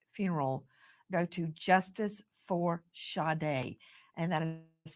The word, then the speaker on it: Sade: fundraiser for shade's funeral go to Justice for shade and that is spelled s a d e like you would say Sade like Sage it's